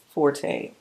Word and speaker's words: forte: that is not my forte. Fort is the proper pronunciation.